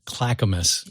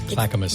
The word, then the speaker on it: Clackamas: the town well it's I think it's pronounced Clackamus it's c l a c k m a s Clackamus the Clackamus Kohls yes